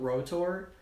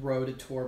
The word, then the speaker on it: ROTOR: It's called Rotor. Not, like, Rotator, but, like, it's spelled like Rotor, but it's an acronym for something.